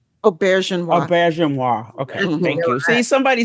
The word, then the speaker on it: Auberjonois: Auberjonois, okay, thank you.